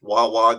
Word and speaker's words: Wawa: Way or Wawa, depending on how you want to pronounce it, is going to build one across the street from it.